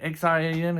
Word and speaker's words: Xian: But I definitely believe that Xian, is it Xian? Xian, Xian is how you pronounce it.